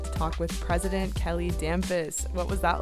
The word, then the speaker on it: Damphousse: Additionally, could you offer guidance on the correct pronunciation of your last name? Thank you, Tyson. My name is Kelly Dampus.